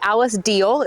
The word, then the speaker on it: Alice Diehl: I'm honored to be joined by Alice Diehl. Is that the right pronunciation?